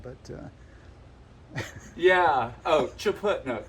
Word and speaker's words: Chaput: Oh, Chaput. No, Chaput. Chaput. Chaput. If I were a hockey puck, you would slap it.